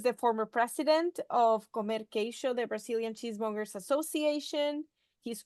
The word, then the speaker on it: Queijo: So Falco is a cheesemonger responsible for Galeria do Queijo. Is that correct? Or I'll try my That's good. Portuguese pronunciation.